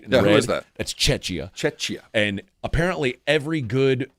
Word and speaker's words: Czechia: It's CHIA, but it's pronounced with a K. Czechia.